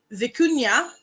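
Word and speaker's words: vicuña: of Kashmir and vicuna the vicuna or the Cunha to use its actual pronunciation from where that comes from it's a cousin of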